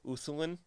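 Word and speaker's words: Ulthuan: the i think you'd i'm pretty sure you just kind of don't pronounce the l uthulin the land of the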